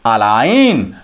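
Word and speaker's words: align: नहीं करेंगे आप देखें ए एल आई जी एन अलाइन जी का सेंस नहीं लिया जा रहा है प्रोनंसिएशन इसका नहीं किया जा रहा है यहां देखिए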